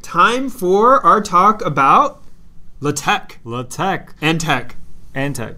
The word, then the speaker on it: LaTeX: Yeah, I won't lie, until I was preparing for this show, I always called it LaTeX. I actually called it LaTeX until my advisor criticized me. He's like, no, it's LaTeX.